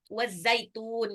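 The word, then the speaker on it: وَالزَّيْتُونِ: Zaitun. Nah, itu taknya itu adalah mat arid li sukun. Apa itu mat arid li sukun? Huruf huruf taknya itu matobe'i. Matobe'i karena dhammah ketemu waw sukun. Ya, matobe'i bertemu dengan huruf berarokat. Huruf berarokat. Nunnya berharokat kasroh tuh. Tapi diwakafkan. Jadi makanya dia jadi panjang. Wazaitun.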